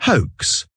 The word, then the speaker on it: hoax: Parce que non seulement en anglais, le H, on le prononce, mais également le OA, c'est une diphtongue. Une diphtongue, c'est une association de deux voix, de deux sons.